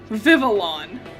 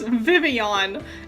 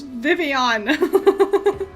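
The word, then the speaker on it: Vivillon: think it would be you would pronounce the L's but no it's vivon there little things that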